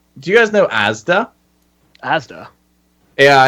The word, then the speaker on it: Asda: Asda. Yeah, it's like a shopping thing. Anyway, you say it like Asda. The way that you say it in Bristol is Asdal.